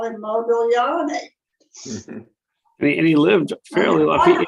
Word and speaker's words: Modigliani: Same idea, the G, Modigliani. We don't pronounce the G.